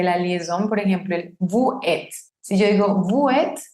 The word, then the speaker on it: vous êtes: Lo correcto es vous êtes. Vous êtes y suena como z. Esa S al hacer la liaison suena como z. Si yo tengo la palabra vous solita, no pronuncio la S. Esa S es muda. Pero se está encontrando con una palabra que empieza con vocal, por ende va a tomar sonido. Ya va a ser vous êtes.